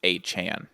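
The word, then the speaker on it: Achane: Yeah, he came out and he's like, I don't like to tell people that it's wrong, but it's A. Chan, not Oh, A. Chain.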